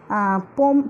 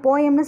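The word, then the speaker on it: poem: போம் போயம்னு சொல்லக்கூடாது, போம் அப்படின்னு ப்ரொனவுன்ஸ் பண்ணணும்.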